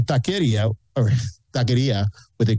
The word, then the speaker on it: taqueria: or taqueria with a Q, I say it with a K. I say taqueria, and that's just the way I say it. And the majority of people here say taqueria, that's the way we've pronounced it.